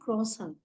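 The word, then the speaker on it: croissant: for Kisa the spelling is same but the pronunciation will be crossan crossan then egg is there egg is called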